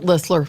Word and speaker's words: Listler: teacher ller right Charlotte ller Charlotte ller do we call you T is silent ller ller yeah yeah